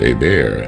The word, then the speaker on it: Hebert: translated means brave Warrior the last name Hebert or pronounced AAR in French Canadian means bright Army so